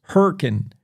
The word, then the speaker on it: Hurricane: And and by the way, it's uh how they say it down there in Hurricane Utah as they call themselves Hurricane.